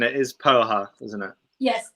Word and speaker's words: poha: of joy so can we just check the pronunciation it is poha isn't it yes it's absolutely correct amazing it's